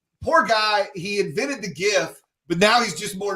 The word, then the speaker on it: GIF: everyone's pronouncing it wrong i believe 70 of the population still uses gif even though poor stephen said it should be jif what say you guys